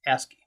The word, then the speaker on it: ASCII: first coming out called ascii that's how you pronounce the a-c-s-i-i is ascii it's an acronym that i forget what it